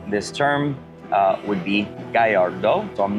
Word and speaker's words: Gallardo: everybody always comments about how I pronounce uh the term gardo um and if you actually in Italy or anywhere else in the world it would be Gallardo uh but as you